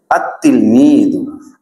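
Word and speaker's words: التلميذ: আতলমিদ তিলমিদুন থেকে আতলমিদুন উচ্চারণে যদিও লামটি আসবে না তবে লেখায় অবশ্যই লামটি আসবে যেমন আততিলমিদু থেকে যেমন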